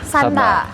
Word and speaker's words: sanda: Kalau ditarung namanya san santa. Santa. Santa. Santa. Tulisannya sanda ya. Sanda. Sanda. Tulisannya sanda tapi kita bacanya Santa gitu.